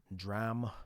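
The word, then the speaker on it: drachm: He's talking about words that have similar final salabic pronunciations uh but are spelled differently. Notice D R A C H M P H L E G M T H U M B all end with the final M sound and none of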